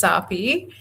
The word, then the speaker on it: Sapi: My name is Sapi. It's basically, Sapi. yes, it's Sharpie without the H.